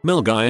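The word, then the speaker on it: Milngavie: Milgy is pronounced Milgy.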